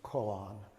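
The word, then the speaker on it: koan: brought up um uh the usual American pronunciation is colon and that's from the Japanese uh like Suzuki roshi would say call on we say Kong which means a uh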